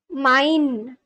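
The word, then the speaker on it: mijn: Mi m like the it's pronounced like the English word mine using an M sound followed by a dip thong. I mine.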